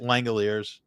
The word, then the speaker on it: Langeliers: How is it is it Langeliers? Yes. All right. There's no like weird like French pronunciation. No, it's language.